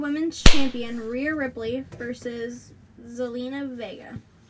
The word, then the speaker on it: Zelina Vega: For the SmackDown Women's Champion, Rhea Ripley versus Zelina Vega. You pronounced it right if you were wondering.